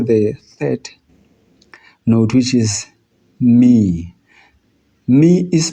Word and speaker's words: mi: Then we move to the third note, which is mi. Me is pronounced as an I, the first person, I.